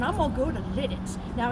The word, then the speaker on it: Lititz: So, I says to myself, I'm going to get my car and I'm going to go to Litt. Now, it ain't pronounced lit.